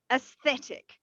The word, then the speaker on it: aesthetic: Aesthetic. Aesthetic. Yes, Aesthetic. Yeah. So also it has a e, and it's pronounced as Yeah.